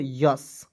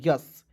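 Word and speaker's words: yes: उसके बाद देखिए वाई ई एस तो इसे पढ़ेंगे दोस्तों यस इसे बहुत लोग एस पढ़ लेता है नहीं एस नहीं पढ़ना इसे पढ़ना है यस ठीक है क्या पढ़ना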